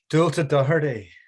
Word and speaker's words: Dualta Doherty: guest is no other than, how do you pronounce your name? Dualta Doherty.